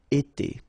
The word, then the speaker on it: été: itself every time, and it's pronounced like été. Été.